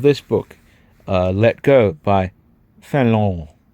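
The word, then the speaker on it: Fénelon: And one of his reviews happened to be of this book, Let Go by Fallon. I believe that's how you pronounce it. Fallon. It's French.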